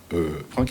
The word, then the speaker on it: Franck: Franck, on l'appelle Franck. Franck. Bon, apparemment ça s'écrit avec CS.